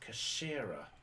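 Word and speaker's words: 頭: Its head in Japanese pronounced Kashira.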